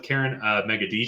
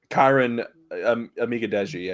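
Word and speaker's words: Kiran Amegadjie: But ended up going with Karen Megadije. Did I pronounce that correctly? Kyron Amigadeji, I believe.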